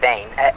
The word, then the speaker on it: vain: It's vain. So I'm probably just pronouncing it the English way, but it's literally vain. V-A-I-N.